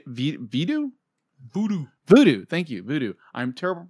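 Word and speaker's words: Vudu: you can watch on uh v video voodoo voodoo thank you voodoo i'm terrible pronouncing words voodoo voodoo and crackle uh it was released in japan on march march 12th 2016.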